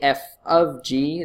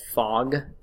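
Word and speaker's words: f∘g: So you would write it something like this, f of g is how you would pronounce it, but you might call it, seen it called fog or goff, but it's really f of g.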